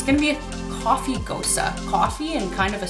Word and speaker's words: Gose: here in winnipeg so this beer is a ghost or you can pronounce it ghosa ghosas originated out of